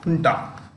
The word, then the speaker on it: junta: He is the leader of the military junta. It is pronounced with an H.